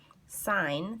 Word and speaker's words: sine: It looks like sin, it looks like cos, and it looks like tan, but I want you to say it like sine. That's actually the real word that it's abbreviated for.